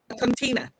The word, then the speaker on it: Coutinho: So when Elan said I'd like to have the Harcourts on, not the Harcourts, sorry, how do you pronounce their last name? Coutinho.